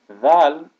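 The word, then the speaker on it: ذال: next one is Val Val is the letter then there when we say the word there or the word the that is how this letter is pronounced the Val it has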